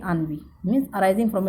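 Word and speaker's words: ennui: इसको प्रोनाउंस करेंगे अनवी।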